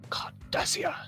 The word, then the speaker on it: Cardassia: ship in the meantime cardassia you've got to say it correctly card does here that's your corvette conservator